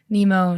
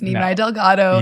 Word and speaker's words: Nimai Delgado: about all the crazy different incorrect ways to say your name we heard some really good ones including nemo naomi that's not how you say your name it's nemai delgado yes thank you for saying it right you're welcome and if